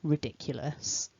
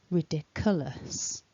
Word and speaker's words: ridiculous: yeah and then finally the luss which has got that weak schwa vowel and it ends with a nice hissing s sound so to put all